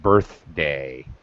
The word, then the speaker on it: birthday: Also, pronunciation of birthday. Got to be careful. Birthday. Birthday. Yeah, you can almost stretch the TH sound a little.